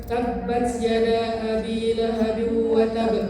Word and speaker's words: tabbat yada abi lahabin wa tab: Watab yang keduanya itu pakai tasydid. Jadi bacanya bukan tabbat yada abi lahabin wa tab, bukan. Tabbat yada abi lahabin wa tab. Harus ditahan dulu. Kenapa?